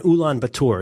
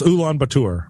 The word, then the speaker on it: Ulaanbaatar: I think you pronounced it a little bit Frencher than it is.